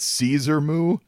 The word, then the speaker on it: Caesar Moo: And I preface that because moo is in cow.